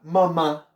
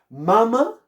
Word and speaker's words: mamá: ¿Ma primera o ma segunda? ¿Cómo dicen ustedes? ¿Mama o mamá? Mamá, ¿verdad?